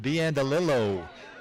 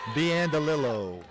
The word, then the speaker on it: Biandalillo: I'm going to correct myself. I just got corrected. Biandalillo is the way to pronounce that. Biandalillo.